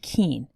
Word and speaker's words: Kuehn: my name is keane yes it's pronounced keen and i'm a senior